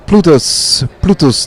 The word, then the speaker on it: Plutus: We're here in Amsterdam at the Money 2020, the second day, fully packed with crypto track, and we're here with Plutus. Do I pronounce it correctly?